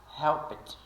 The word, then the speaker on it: helped: Ed final resumo o o Ed final vai ser pronunciado como se fosse um t Quando o verbo termina com sons surdos P no caso de helped helped no nesse caso